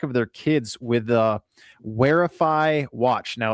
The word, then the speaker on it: Wherify: Parents can keep track of their kids with the Wearify watch. Now it's spelled WHERIFY watch.